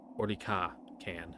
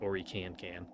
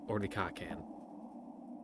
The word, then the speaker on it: Orlikankan: I think I'm doing the emphasis on his name wrong. I think it's like Orlika-kan, not Orikan-kan. Like Orlika-kan. That sounds a whole lot more natural.